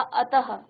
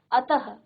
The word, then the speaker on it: अतः: तो जैसे हमने कहा अतः, क्या कहा, अतः, तो उच्चारण क्या किया, अ, त, और फिर हमने कहा ह, अतः, प्रातः, स्वतः, प्रायः, सनह।